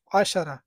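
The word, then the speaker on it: عشرة: ওইভাবে অর্থ নয় আশারা আশারা বলবেন না আশারা ক্ষেত্রে আইনের উচ্চারণ করবেন আশারা এর অর্থ হচ্ছে 10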